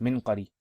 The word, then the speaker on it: منقري: Here is, okay, so here's Musa bin Ismail, and المنقري بسكون الميم وسكون النون أو بكسر الميم وسكون النون وفتح القاف منقري.